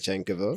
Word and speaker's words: Pavlyuchenkova: You pronounce the last name, please. Pavlyuchenkova.